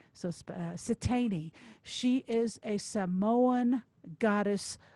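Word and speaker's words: Siteine: So Satani.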